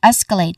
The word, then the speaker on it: escalate: Starting with s, which has a short e vowel sound and ends with a hissing sound, s which is also this particular syllable is our stressed syllable. So we emphasize there's this particular syllable. We held it a bit longer and say it a little louder.